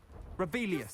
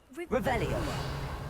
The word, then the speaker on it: Revelio: You're Rebellious. saying it wrong. Ugh. Revelio.